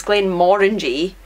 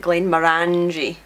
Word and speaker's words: Glenmorangie: pronounced yes um Glenn so it's Glenn moringy but people often print it Glenn moranji and recently I have heard it pronounced a bit friendly and going morons very exotic it's very exotic but it's Glenn moringy I like orangey like orangey and the label is